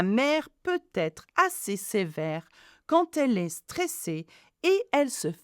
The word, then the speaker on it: quand: Now, quand elle est stressée. Now, the quand has a D at the end, but we don't pronounce the D, we pronounce it T.